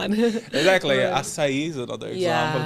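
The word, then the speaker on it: açaí: They call it a kai. Yeah. They don't They don't know how to pronounce it. Exactly. I saw a video of Marazini saying it gringo are not they the name is not Akai. It's asai.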